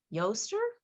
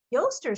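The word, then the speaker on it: Oestre: o e s t r e and is pronounced yoster yoster symbols are rabbits and birds ostara the goddess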